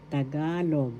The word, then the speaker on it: Tagalog: Tagalog. That's how it is pronounced. First syllable ta. Second syllable ga. Third syllable.